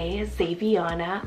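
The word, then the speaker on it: Xaviana: and theodoric means powerful ruler zaviana spell x-a-v-i-a-n-a zaviana I am so in love with this ex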